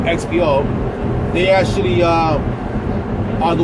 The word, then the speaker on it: XPO: like xpo uh or you guys may mispronounce it say expo but it's actually it's called xpo they actually uh are